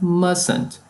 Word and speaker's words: mustn't: E must, na negativa, must not, com a forma contrata mustn't. Observe que há um T no meio da palavra que não é pronunciado.